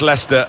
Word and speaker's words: Leicester: lot of that don't we but very much Lester very much the leaders yeah I don't think